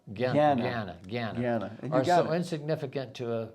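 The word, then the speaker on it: jñāna: The resulting the resultant actions of karma and jarna that's not pronounced jarn but it's ga gana gana are so insignificant to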